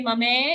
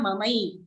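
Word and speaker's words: ममै: First charan, mamai, don't say mame, it's a I ki matra, mamai.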